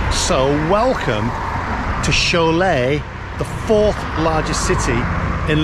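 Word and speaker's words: Šiauliai: to the town of Chalet Chalet but look how it's written I can't believe it's pronounced sholay but we know we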